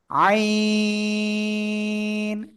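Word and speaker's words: ع: গলার মধ্যখান হালকা চেপে বাতাস বন্ধ রেখে একালিপ টেনে উচ্চারণ করবো না কয়ালিপ? চার আলিপ টেনে উচ্চারণ করতে হবে। আইন।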